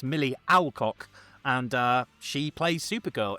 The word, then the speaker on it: Millie Alcock: It's not Millie Olcock, as Van told me. It's Millie Alcock.